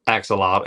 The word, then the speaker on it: axolotl: What is axolotl? What? You said it right now. Axolotl.